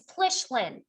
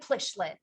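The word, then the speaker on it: Pylyshyn: good as i can it's plichlin it doesn't look like plishlin it's plichlin actually if you want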